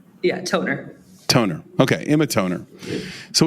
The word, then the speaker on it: Tonner: Is it Emma Toner or Toner? How should we be pronouncing this? Toner.